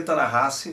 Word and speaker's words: Ta-Nehisi: Ta-Nehisi, se lê Ta-Nehisi, Ta-Nehisi Coates se escreve dessa forma que tu tá vendo aí.